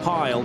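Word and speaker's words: Pijl: The I and the J I'm always told by Dutch friends is pronounced with a Y in English. So let's go with Dan Pile.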